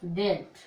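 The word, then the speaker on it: debt: वो क्या बोला था, अगर बी के बाद में टी आता है तो बी है वो साइलेंट रहता है। इसका बी का जो कोई उच्चारण नहीं होता तो इसका हम उच्चारण नहीं करेंगे। ठीक है, बी का उच्चारण नहीं करेंगे। तो क्या है, तो अब इसको क्या पढ़ोगे, इसको क्या पढ़ोगे डेट।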